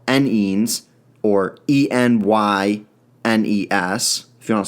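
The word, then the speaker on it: enynes: containing both double and triple bonds are called n-ends or e-n-y-n-e-s if you want to spell that out numbering an ending chain starts from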